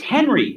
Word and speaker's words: Henri: It's Henry. Like I know that they don't want to pronounce it. My grandfather's name. It's a French pronunciation of Henry.